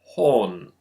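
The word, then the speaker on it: 本: That would be because the katakana ho is actually derived from this character, which is pronounced hon.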